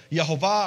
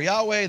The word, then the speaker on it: Yehovah: on the earliest Hebrew manuscripts, I pronounce it Yehovah. If you want to replace that with Yahweh, knock yourselves out. God said to Moses, thus you say to the children of Israel, Yehovah or Yahweh, the God of your fathers has sent me